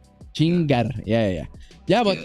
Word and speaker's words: chingar: be something like okay Ching chingar you got roll the RS Ching chingar yeah yeah yeah but